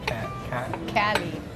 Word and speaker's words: Khalid: Pronounce, am I saying Khalid? Khalid.